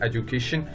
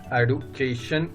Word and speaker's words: education: तो एक तो है एजुकेशन, तो TION होता है श. एडुकेशन नहीं बोलेंगे, कुछ लोग आजकल आप सुनेंगे एडुकेशन बोलते हैं, तो एडुकेशन एक्चुअली नहीं होता है, ये होता है एजुकेशन.